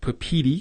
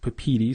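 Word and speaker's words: Papeete: I had to look at a YouTube video how to pronounce it. Papiti is one of the ways. Papiti.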